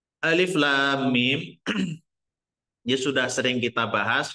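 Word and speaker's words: الم: muqat itu ya terputus-putus cara membacanya itu dibaca nama hurufnya hurufnya Alif Lam Mim gitu ya yang kedua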